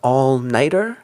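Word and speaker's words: all-nighter: In this expression, we don't really get a t sound. When we just say the noun night by itself, we get a strong t. Very crisp t sound. But here, when we add the e r, it we get more of a d sound.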